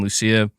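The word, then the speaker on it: Lucía: GTA 6 Jason and Lucia and um saying in Spanish it's Lu okay okay so so I I am the the third way I pronounced it was the correct way Lucia gotcha gotcha you know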